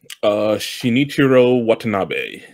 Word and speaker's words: Shinichirō Watanabe: But yeah, how you pronounce the director's name? Shinichirō Watanabe.